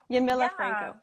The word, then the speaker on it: Yamila Franco: it the first time you can say that yamila franco okay perfect of course yes no not a